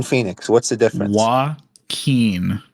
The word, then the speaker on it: Joaquin: Joaquin Phoenix. What's the difference? Joaquin, not Joaquin.